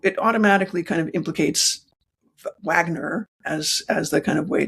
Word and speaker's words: Wagner: And so they say Wagner, but when we transliterate it into English, it becomes a W.